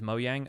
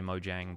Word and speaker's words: Mojang: you pronounce mo yang I pronounce it with the Y sound instead of a J sound because it's a Swedish company and that's the Swedish way of pronouncing it not that I am Swedish or anything I just like the sound of it as mo yang but it can be pronounced either way both both pronunciations are valid like occasionally I will